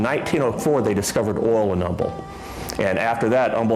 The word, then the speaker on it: Humble: a little bit odd the way he pronounces named H was silent so it pronounces humble many have described pleaseth